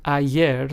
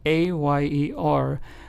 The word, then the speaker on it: ayer: Then we have the word ayer spelled a y e r, which means yesterday in Spanish, is pronounced as ayer. Again, same sound as the two L's, right?